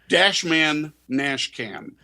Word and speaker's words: DashMan NashCam: DashMan NashCam. DashMan NashCam. Like Nashville. So it's like yeah, that Nashville and then dash cam on either end, DashMan NashCam.